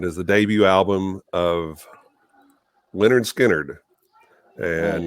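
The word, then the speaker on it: Lynyrd Skynyrd: 1973 and it is the debut album of leonard skynyrd and it's the album pronounced leonard skynyrd free bird baby absolutely absolutely um and that's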